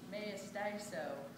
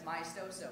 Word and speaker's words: maestoso: And people are like, me estaso. Like, they don't know how to say it because it's in a different language. But you know, we learn that. We learn that it's maestoso.